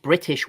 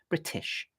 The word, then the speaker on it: British: example, now the typically British way to pronounce that word is British, and as you can hear, I've got an aspirated, somewhat sibilant t sound like that. Tish, British.